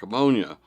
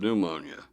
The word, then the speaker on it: Lake Ammonia: from Tallahassee at Lake Ammonia, an apt name for that truly poisonous-looking lake if I ever heard one. It was indeed pronounced ammonia, but we sometimes said pneumonia.